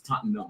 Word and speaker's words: Tottenham: The H is silent. It's Tottenham.